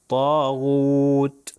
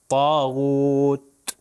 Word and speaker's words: طاغوت: چلے کہ تے ہے، تا دیکھیے موٹا ہے اور آخری تا ہلکا پتلا پڑھوں گا، طاغوت، نارمل تے۔ یہاں پر